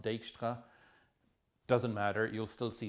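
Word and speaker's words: Dijkstra: or the dejkstra algorithm i think that's a dutch name so it's probably pronounced dextra doesn't matter you'll still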